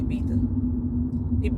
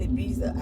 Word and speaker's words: Ibiza: So I don't know if any of that is existent in Ibiza. I just know Ibiza. They pronounce it with the TH. The Z, they pronounce it with TH.